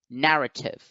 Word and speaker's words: narrative: we have the word narrative narrative now in the word narrative we have three syllables and the first syllable has the stress mark so it is the